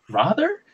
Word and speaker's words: rather: get on my case for pronouncing father correctly sorry no rather correctly oh wait say it again rather rather rhymes with father cuz they're spelled the